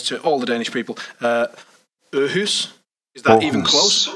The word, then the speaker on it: Aarhus: Aarhus? Is that Aarhus. even close? Aarhus.